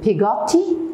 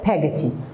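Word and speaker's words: Peggotty: pagaty by the way you can say pigatti and pagati both are correct in the names you know we can pronounce it the way whatever we want the third point mr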